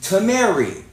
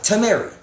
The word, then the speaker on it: Tameri: all come from the country that is called Tamary. Tamary. It is spelled T A M E R I. Tamary.